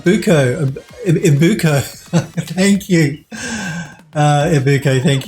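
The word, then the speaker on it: Ibucco: Is it Uko? How do I pronounce your username? The I3UCCO. How do I pronounce that? It's B. Oh, okay. Oh, Ibuko.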